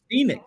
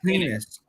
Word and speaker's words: Penix: not penix P No it's penix it's spelled penix look $100 $100 right now not Michael penis but it is Michael Michael penis it's Michael penix all right well listen